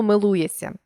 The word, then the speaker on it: милується: з зсі т д візьмімо слово милується що тут відбувається літера ш разом із S що позначаються шиплячим ш і свистячим с у вимові дали подовжений син тобто шиплячий плюс свистячий дорівнює свистячий милує сям візьмімо слово зжати у